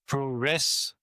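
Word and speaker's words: プロレス: mean they saw the word puresu which is pronounced proess which is a contraction as you said of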